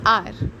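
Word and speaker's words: hour: For example आर, हम हार नहीं कहते हैं, H साइलेंट होता है, सो दिस बिकम्स आर.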